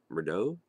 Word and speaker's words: Murdaugh: pronounce your last name I think it's pronounced murder um sorry about that